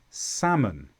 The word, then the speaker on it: salmon: So calf, calm, salmon.